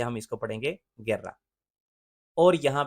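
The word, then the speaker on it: guerra: जी और ई के दरमियान यू है तो ये गे की आवाज होती है, गेर्रा।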